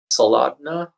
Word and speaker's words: Soldotna: And then night one, we're in Soldotna. I don't really know how to say it. It's Sold O-T-N-A. That's how you spell it.